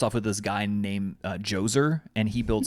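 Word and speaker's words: Djoser: with this guy named joser and he builds like the step pyramids Jer yeah joer spelled with a DJ o s e r wow and yeah like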